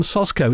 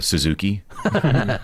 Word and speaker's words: Soszko: studio and with him sashko now did I get that right you hit it perfectly I was actually saying out in the waiting room out there like there's not many people who say my name correctly at what's the worst you've had a Suzuki so those go is